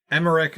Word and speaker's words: Emmerich: Yeah, it'd be Emmerich. It's a German director. Yeah. But, does that change how I'm going to pronounce it?